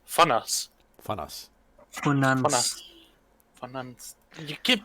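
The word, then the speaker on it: Vonans: apparently it is pronounced German, so it is Fonas.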